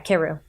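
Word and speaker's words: Karou: Keru? Yeah, Keru.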